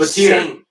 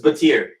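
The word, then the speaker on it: Battier: It's Batir. It's Batir.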